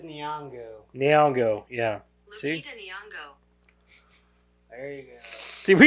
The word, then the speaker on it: Nyong'o: See, Lupita Nyong'o. There you go. see, we gotta Google people's pronunciation for their names.